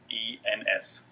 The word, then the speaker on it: Goossens: And it's spelled a little weird, but it's Goossens.